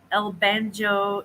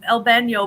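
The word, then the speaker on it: el baño: that that's the uh el banjo is it it's el bano but it actually is spelled with the y yeah it's kind of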